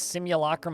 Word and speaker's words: simulacrum: my own fault I'm an idiot a wax simulacrum of a human he's a human adjacent being